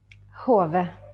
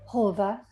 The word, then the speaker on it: Haave: Haave. Haave.